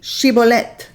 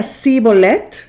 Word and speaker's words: Shibolet: Si él decía sibolet por no poder pronunciar de aquel modo, le echaban mano y lo desgollaban junto a los vados del Jordán. Ellos no podían decir shibolet, ellos decían cibolet, no podían decir el sh.